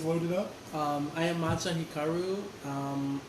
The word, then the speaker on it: Hikaru: I am Matcha Hikaru. That's how you say it because I was saying it Hikaru, wrong.